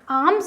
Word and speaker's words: alms: आर्म्स क्या है हमारा, आर्म्स हमारा हो जाता है भिक्षा, ALMS। यल इसमें क्या है बच्चों, साइलेंट है।